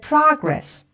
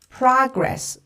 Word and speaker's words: progress: Like, we're making good progress. Progress.